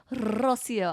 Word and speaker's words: Rocio: But the emphasis in the name Rosio, I'm here for it because a lot of people botch my name, especially living in Oklahoma for so long. They can't say my name right. And I'm like, it's really not that hard. But I love it. Especially the roll on the R.